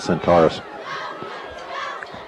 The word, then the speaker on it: Centaurus: part of the country we always pronounce it Centaurus cheers here is right to